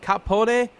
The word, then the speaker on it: Capone: Okay, this is how it's pronounced. Capone.